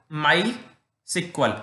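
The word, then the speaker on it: MySQL: एक लिख लो माई सिक्वल, एसक्यूएल नहीं बोलते, इसे सिक्वल बोलते हैं। ठीक है, बुक में भी लिखा हुआ है क्लियरली कि इट is pronounced eight सिक्वल।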